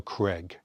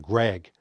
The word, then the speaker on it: Daniel Craig: That, and also pronouncing Daniel Craig's name correctly. Daniel Craig, not Daniel Craig. It's not Craig, it's not Greg. Craig. Daniel Craig.